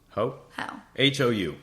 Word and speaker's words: Hou: Oh, that's how you say her name. How? Hou.